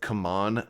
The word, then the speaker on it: CMON: is from Seamon and I think they pronounced themselves come on now but I just can't really bring myself to say that cuz it sounds like I'm saying come on man pack it you know